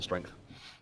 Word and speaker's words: strength: They also gain 1 strength. Strength. That's how it's pronounced. Strength. Strangth.